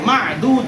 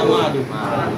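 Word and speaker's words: معدود: এটাকে মাদুদ এভাবে বলতে হবে না, মাদুদ।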